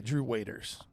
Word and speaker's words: Drew Waters: in pronunciation bill today Drew Waiters Yep this phonetically looks like waters I agree but it's pronounced Waiters my fun facts are